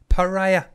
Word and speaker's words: pariah: it is pariah yeah think of mariah oh i want for christmas pariah that's how you pronounce it just in case